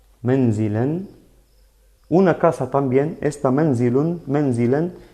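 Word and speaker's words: منزل: Menzilun. Miren, menzilun, así se pronuncia doble damma.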